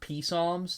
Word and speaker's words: Psalms: yeah the Psalms oh also they're pronoun they're pronounced Psalms thank you oh my God I should have